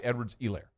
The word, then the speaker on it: Edwards-Helaire: yet it's still the Hilaire, Clyde Edwards-Helaire. No, Clyde Edwards-Helaire. That's it. Long E.